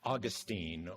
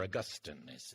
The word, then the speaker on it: Augustine: Let's look at the 5th century in an argument between Pelagius and Augustine, or Augustine, as some people pronounce it.